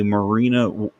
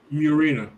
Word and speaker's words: Murena: But now the E Foundation has a phone of its own, the Marina. Well, how do you pronounce that again? Murena.